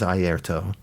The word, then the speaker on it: Airto: I think it's Airto Moreira. I'm probably mispronouncing his last name, but it is Airto.